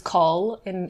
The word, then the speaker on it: Nicoll: c o l and that is call in in like there's there's an aisle of call in Scotland which is how you'd say that um but yes people